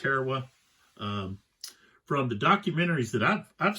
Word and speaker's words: Tarawa: It's Tarawa. Most of y'all, I think, I've heard it pronounced Tarawa.